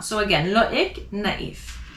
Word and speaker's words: naïf: And tréma, loïc, naïf. How do I know to pronounce the I more than the other letters? It's because of the tréma. So again, loïc, naïf.